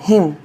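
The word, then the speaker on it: hymn: एम आ जाए तो उस कंसन में एन साइलेंट हो जाता है जैसे कि एच वाई एम एन हिम भजन जिसका मतलब होता है सी ओ एल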